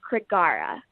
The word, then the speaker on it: Krigare: this is the new artist name and it pronounced Creek Gaara it's a Swedish translation of the word warrior